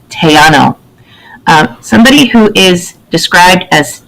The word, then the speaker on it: Tejano: It's pronounced Tejano.